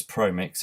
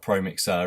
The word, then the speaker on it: Promixx: i'd definitely recommend the pro mix and it's pro mix it's spelt p r o m i x x it's not pro mixer it's pro mix with double x on the end so definitely recommend them